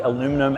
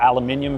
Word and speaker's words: aluminium: also we've got the aluminum at the front there or aluminium for any of you guys who like to say it like that as well I think it looks